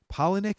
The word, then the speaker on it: Palahniuk: by the plot twist and I could never pronounce the writers name can you say his name from a Hellenic Chuck Palahniuk is that how you saying yeah poetic it